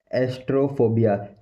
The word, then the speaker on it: astraphobia: एक है एस्ट्रोफोबिया, एस्ट्रोफोबिया, एस्ट्रोफोबिया, एस्ट्रोफोबिया, एस्ट्रोफोबिया, एस्ट्रोफोबिया, एस्ट्रोफोबिया, एस्ट्रोफोबिया, एस्ट्रोफोबिया, एस्ट्रोफोबिया, एस्ट्रोफोबिया।